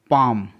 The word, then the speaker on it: palm: PALM, पाम, पाम, यहाँ पास LM का combination है जिसमें L साइलेंट है।